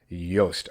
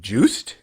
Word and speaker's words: Joost: Yoast. Okay, so it is the like Y sound to the J.